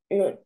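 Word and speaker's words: نون: pronounced Noon.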